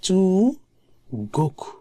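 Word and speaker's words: 中国: হচ্ছে চু, চু, যেমন চু গোকু মানে চায়না, চু গোকু, চায়নাকে বলা হয় চু গোকু। তাহলে এই চুটাও তার একটা প্রনাউন্সিয়েশন আছে। এখানে আছে নাকা নি, তো নি পার্টিকেল যখন থাকে তখন সেটার উচ্চারণ নাকা হয়, নাকা নি, নাকা নি। আর চুটা হয় যুক্ত বর্ণের সাথে, মানে অন্য কোনো বর্ণের সাথে মিলে, যেমন চু গোকু, গোকুর সাথে মিলে চু বসছে এবং তখন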